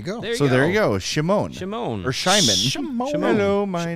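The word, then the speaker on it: Šimon: in the chat says the little mark over the s is pronounced like sh so it's shimon and region rev says that's correct she speaks slovak there you go so there you go shimon shimon or shimon hello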